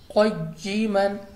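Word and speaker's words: قَيِّمًا: भी बगैर वक्फ की, लेकिन जब रवां पढ़ेंगे तो आप पढ़ेंगे क़य्यिमन, पारा नंबर 15 सूरतुल कहफ।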